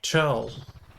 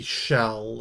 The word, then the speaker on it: Chell: we can even see Chell there should be shell it's short for Michelle I think yes I'm gonna go with shell even though it's spelled with a C there we go okay